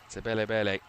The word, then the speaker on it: Sibabalwe: Sibabalwelele. Uh it's a complicated name to say. Sibabalwelele. That's about the worst pronunciation I've ever said. Sibabalwelele is what the name is.